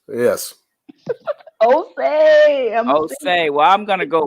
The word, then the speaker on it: Osia: Me being able to pronounce his name. Yes. Osei.